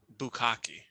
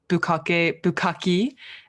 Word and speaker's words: bukkake: people are very tickled when I tell them that Americans or non-Japanese people pronounce bukkake. Even my favorite comedian, Eric Andre, had his birthday party as the bukkake birthday party. I love the mispronouncing of that.